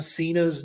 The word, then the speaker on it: Cena: to find out that John Cena's name pronounced in Italian is Cena.